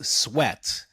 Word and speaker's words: Sweat: Is it Chris Sweat? Is it pronounced differently? Is there like a French connotation to it, like Sweaté or Nah, something? I'm like No? 10th generation American, but it is sweat. You said it right.